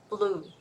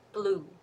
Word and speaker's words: blue: uh air flow so L since the tip of the tongue is touching the um behind the upper teeth that means air is blocked right so you're going to hear some sound that is like the tongue is touching somewhere blue L right blue blue so that is the L Sound you're going to hear